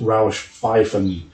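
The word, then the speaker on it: Rauschpfeifen: sound so yeah the the pronounced pronunciation is rausch pfeiffer and more than one is roush pfeiffen so here we go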